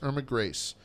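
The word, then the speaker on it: Grese: Yeah, so he told me about this woman, her name is Irma Grace, G-R-E-S-E, but it's pronounced Grace, Irma Grace.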